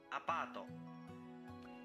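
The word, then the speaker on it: アパート: Apato. Did you hear it well? The word is pronounced A-pa-to. Apato.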